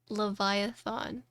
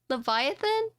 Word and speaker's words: Leviatán: Leviatán. Wait, Leviatán? Leviathan? Leviatán? Oh, so I was saying it right. I was saying it right, but my phone kept correcting it to Leviathan, and I was like, hold on.